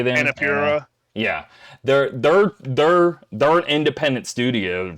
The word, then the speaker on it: Annapurna: Annapurna.